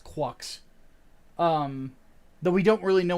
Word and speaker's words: Quux: So, and yeah, how is GQuuuuuux pronounced? It's just that's Quux.